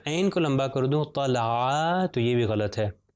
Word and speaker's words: طلع: فتحہ ل، اور عین کے اوپر فتحہ ع، طلع، طلع۔ دیکھیے میں کسی جگہ پر کھینچ نہیں رہا،